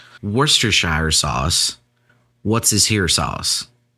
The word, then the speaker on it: Worcestershire: the craziest part of it is pronounced Worcestershire sauce.